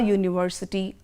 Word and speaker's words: university: a university a union you must be wondering why u is highlighted there because here it sounds like u y o u and you know that why it is a consonant sound and that is why